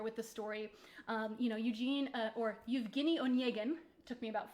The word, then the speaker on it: Evgeny Onegin: For those of you who are familiar or who aren't familiar with the story, Eugene or Evgeny Onegin, took me about 4 years to learn how to pronounce that correctly.